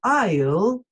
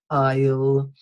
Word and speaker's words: aisle: an aisle seat now aisle is pronounced without the S aisle so yes you must